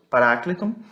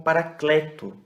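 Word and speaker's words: παράκλητον: Consolador, parácleton. Alguns pronunciam como paracleto, né? Mas, assim, o acento ele está aqui nesse A, mas é só questão de pronúncia mesmo, mas tá bom.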